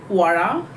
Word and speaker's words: Qraa: इट्स the spelling is QRAA. It's like क्वारा.